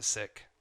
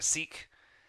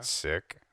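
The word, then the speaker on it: Sikh: Indian I'm actually um I'm a sick or a seik as they say in America siik that's how you pronounce it like my religion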